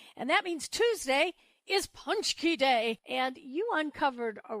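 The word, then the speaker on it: pączki: As you know, it's Ash Wednesday, the beginning of Lent on Wednesday, and that means Tuesday is Punchki Day, and you uncovered a really interesting flavor of Punchki.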